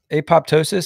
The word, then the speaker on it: apoptosis: it's called apoptosis is that how you say apoptosis that's how I was going to pronounce it yeah apoptosis so so cells are genetically progam yeah you